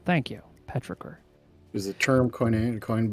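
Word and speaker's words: petrichor: wet rain on hot pavement that's an actress petriker thank you petricker is the term coin coined by an Australian scientist 1964.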